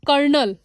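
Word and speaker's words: colonel: that is called canal so here the word canal sound similar to कर्नल spelling हमारा जो है almost कर्नल यह जो है और इसे भी हम कर्नल बोलते हैं इसमें आर जो है वह साइलेंट है हमारा च इज द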